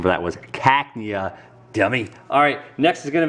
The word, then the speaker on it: Cacnea: here and keep everything organized and the correct pronunciation for that was Cacnea dummy alright next is gonna be evolution let's